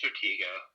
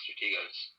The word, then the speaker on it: Stratego: Uh, Strategio. I think it's Stratego. I've That's how I never played pronounce it.